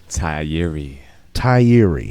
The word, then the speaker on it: Tigh Appiah: Tigh, you got to pronounce this for me. Tigh Appiah. That's right. Yep. Tigh Appiah.